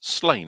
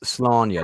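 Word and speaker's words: Sláine: is I think it's Slain, isn't it? Is it Slain? Was it Slain? which he proved definitively is not pronounced Slania, like some Ponzi people at my school always used to pretend.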